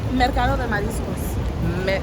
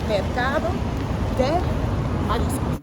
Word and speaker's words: Mercado de Mariscos: market, don't come for me, I'm not gonna pronounce nothing correct in Spanish. Nessa, you know how to say it? Mercado de Mariscos. Yes, that. Mercado de Mariscos.